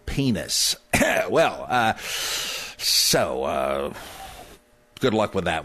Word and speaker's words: Pines: Oh, it's Shlomo Pines, isn't it? Well, if you don't have any guts, you might want to mispronounce it that way in public because I'm afraid the Hebrew is Shlomo Penis.